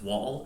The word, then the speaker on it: Woll: My name may be spelled W-O-L-L, but it is pronounced Wall as in a building, not wool as in sheep. So just to clarify, Wall, wool, wall.